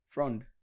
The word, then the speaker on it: frond: It's palm front. It's a D. Frond.